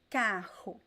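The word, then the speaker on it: carro: two vowels okay and it always sounds like the strong art where just like the same pronunciation you find in the r at the beginning of words okay it's the same just like the the h ha just like the the french are a little bit depending on the accent so let's see examples pronounce after me kahu so here they stressed at the beginning the last syllable is weak we are going to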